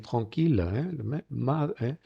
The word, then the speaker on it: tranquille: Sin embargo, cuidado que a veces la ILL se pronuncia como il. Fijaros la palabra ciudad y pueblo, la ville, le village, est tranquille.